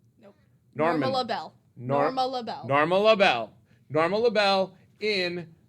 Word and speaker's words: Norma LaBelle: Charlotte Taylor, who played, I always say the name wrong, Norman. Nope. Norman. Norma LaBelle.